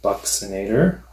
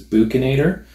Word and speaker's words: buccinator: the cheek known as buccinator some people refer to as bukinator it just depends on how you want to pronounce it so buccinator is a